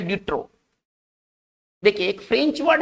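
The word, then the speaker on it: de trop: देखिए ये P silent रहेगा, ठीक है ना, बस यहीं तक उच्चारण करेंगे, डी ट्रो।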